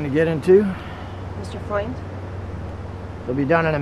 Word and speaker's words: Freund: Hey, friend. It is pronounced Freund.